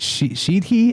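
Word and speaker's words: sidhe: The asaihi I think is how you say it she s i d h e.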